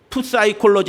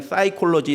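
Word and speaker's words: psychology: 그 사이콜로지 할 때 PS 이렇게 Y 이렇게 되잖아요. 근데 푸사이콜로지 이렇게 하지 않고 그냥 사이콜로지 이렇게 얘기해요.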